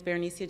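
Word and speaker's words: Berenecea: My name is Bernicia, and I'm the president.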